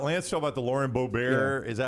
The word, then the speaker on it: Boebert: Talking about the Lauren Boebert.